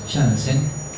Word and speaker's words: Janssen: Hasta que aparece este señor, Zacharias Janssen, dice ahí, se pronuncia Janssen, que era el hijo de Hans Janssen, que